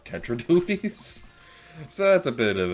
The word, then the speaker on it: Tetra Dualies: Dualies, which, fun fact, I often mispronounce these as the Dark Tenta Dualies rather than the Dark Tetra Dualies.